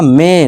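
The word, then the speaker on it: may: ठीक है दोस्तों, जैसे कि देखिए डे, नॉट die, play, ply नहीं प्ले, इसी तरह मे, नॉट मई, मई नहीं पढ़ेंगे इसे, मे पढ़ेंगे।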